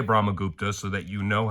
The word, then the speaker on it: Brahmagupta: All right, I'm not going to explain Brahmaguptas, but I will say Brahmagupta so that you know how to say it.